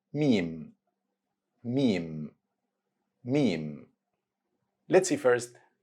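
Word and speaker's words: ميم: which is letter M same letter M sound in the English word make repeat after me meme M moving to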